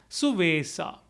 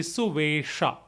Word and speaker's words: Suvesa: Suvesa. It's again a Avadhi pronunciation. The Sanskrit equivalent would be Suvesha.